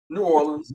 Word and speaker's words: New Orleans: New Orleans. Right way to say New Orleans, just like that.